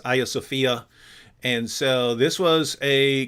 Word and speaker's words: Hagia Sophia: a video on uh Hagia Sophia um that's that that would be the original Greek pronunciation um in Turkish now I think it's Aya Sophia and so this was